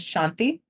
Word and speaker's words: Shanthi: My first name is Shanti.